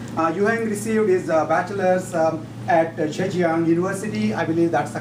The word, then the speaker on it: Zhejiang: Yuheng received his bachelor's at Zhejiang University. I believe that's the correct pronunciation for those of you who don't know how to say it right.